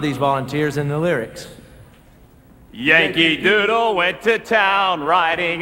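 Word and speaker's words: Janke: J-A-N-K-E, pronounced Yankee, is a familiar form of the Dutch name Jan, just as Johnny is the familiar form of John.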